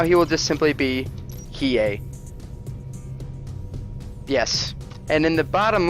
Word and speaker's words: Hiei: have it down with Hiei. Perhaps more emphasis on the H for more of a hey, but that remains to be determined. For now, he will just simply be Hiei.